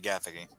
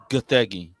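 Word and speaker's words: Gathegi: The actor for Terrific, Eddie Gaffig. Oh, it's actually Gothi. Whatever. That's how you pronounce his name.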